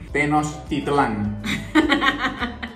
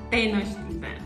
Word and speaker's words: Tenochtitlán: palabra en este mismo video que no sabías pronunciar. Vamos a ver qué tanto avanzó tu español mexicano. Español mexicano. Tenochtitlán. Tenochtitlán.